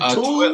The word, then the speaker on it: Tooele: Is it Tooele, Tool? Tooele, Utah. Tooele. So like do like the number two and then Illa. Tooele. I need to look up here because my camera's up here. Tooele.